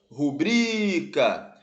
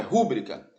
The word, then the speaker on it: rubrica: recorde são paroxítonas exatamente rubrica não é rúbrica recorde não é recorde são paroxítonos gabarito letra